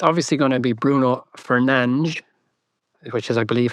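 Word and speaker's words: Bruno Fernandes: So, it's obviously going to be Bruno Fernanch, which is, I believe, how you pronounce his surname. Fernange.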